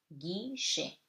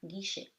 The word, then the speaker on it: guichet: With U, it becomes G. You don't read the U, okay? The letter U is silent before G. So it before EIY. So it gives you guerre, guichet. Okay?